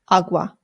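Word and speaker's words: agua: Please don't say it that way if you're trying to speak Spanish. It's awa. Awa.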